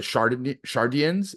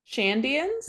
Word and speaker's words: Shandians: And then you have like the Shardians, is that how you call them? Say their names? Shandians, I think. Shandians, not Shardians, Shandians.